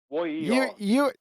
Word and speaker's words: yer: Y-E-R. Y-O-U-E-R? Ye. No, Y-E-R. You can just think of Y-E-A-R, like year, like this year. Just say the word year phonetically.